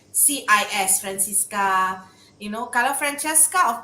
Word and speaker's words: Francissca: me the name actually it's francisca francisca because there cis so you emphasize on francisca uh it sounds spanish but on one hand it's pronounced francisca you know italian almost um but uh yeah it